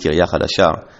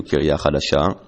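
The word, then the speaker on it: קריה חדשה: In modern Hebrew it's pronounced Kiryah Hadashah. In biblical Hebrew it would have been pronounced more akin to Kiryah Hadashah.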